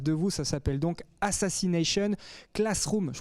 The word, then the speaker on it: Assassination Classroom: Ça s'appelle donc Assassination Classroom. Je prononce bien, les garçons?